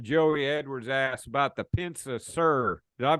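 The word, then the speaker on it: Pensa-Suhr: Well, let's move into this the second part of the question Joey Edwards asked about the Pensa Sir. Did I pronounce that right?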